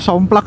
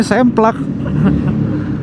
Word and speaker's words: Semplak: Oke, pertigaan ini tadi ada daerahnya namanya Somplak ya, Mas? Cempa. Oh, Semplak. Cempa. Hah? Cempa. Ciempa? Heeh. Semplak bukan? Bacanya Semplak. Awal kebaca Somplak.